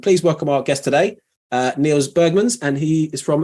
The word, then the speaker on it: Niels: So I'm just making sure I'm pronouncing your name correctly. Is it Niels?